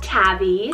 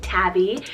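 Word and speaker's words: Tavi: Couple T names here, we have Tabby, spelled T-A-V-I, Tabby, and this one means beloved friend.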